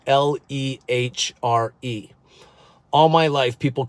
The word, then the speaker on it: Lehre: He said, my name is Gunther Lehre. So that's how they pronounce it there. But anyway, here we just say Lehre.